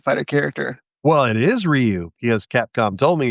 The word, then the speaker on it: Ryu: Well, it is Ryu because Capcom told me it's Ryu. I've heard people say, you know, tomato tomato, but they said it's pronounced Ryu and it's not haduken.